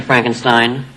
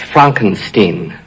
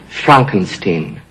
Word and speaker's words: Frankenstein: I have one question, Dr. Frankenstein. That's Frankenstein. I beg your pardon? My name, it's pronounced Frankenstein.